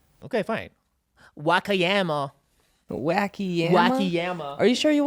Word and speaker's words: Wakayama: Wakayama. How do you know that's how it's said? Okay, fine. Wakayama. Wacky yama?